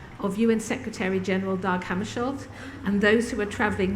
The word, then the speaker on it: Hammarskjöld: there as a free giveaway, and Who Killed Hammarskjöld, that's how we say his name, yes, which